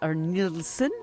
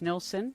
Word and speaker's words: Nilsson: nielsen dr nilson's book the nilsson i think is how you say it in swedish something like that the